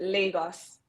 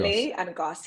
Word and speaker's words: Lagos: Exact same spelling, but Lagos. It's like Lagos. Lay and Gos.